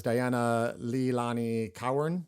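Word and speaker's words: Dianna Leilani Cowern: from the fabulous physics girl also known as Diana Leilani Cowan, I believe is how you say her name.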